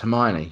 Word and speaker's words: Hermione: my wife for years didn't know that her mine he was pronounced Hermione she called her homie oh and why is that